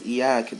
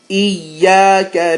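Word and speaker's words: إياك: Whereas Iyak does not mean you, it means something completely different. So the proper way to say it is Iyaka with shadda. Iyyaka na'budu wa iyyaka nasta'in. Iyyaka na'budu wa iyyaka nasta'in. Okay, so Iyyaka. Make sure you hold that ya.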